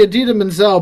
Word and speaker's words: Idina Menzel: like, I'm pretty sure he said he's meant to say Adina Menzel, but I don't know what he just said.